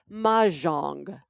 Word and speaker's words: mahjong: day that we're going to make sure everybody pronounces right, including you. And today's word, mahjong.